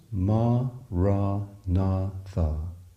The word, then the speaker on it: maranatha: Say the word as 4 syllables, ma, ra, na, tha.